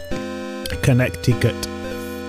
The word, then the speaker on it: Connecticut: Connecticut. As it is for some reason spelled. Nobody pronounces the other C.